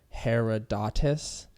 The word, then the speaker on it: Herodotus: about Atlantis Herod her I always get this guy's name wrong its Herodotus he's considered the father